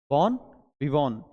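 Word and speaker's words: bon vivant: और एक वर्ड आता है हमारे पास यहां से बोन विवोन। इसमें टी साइलेंट होता है। याद रखिएगा। टर्म क्या है? बोन विवोन।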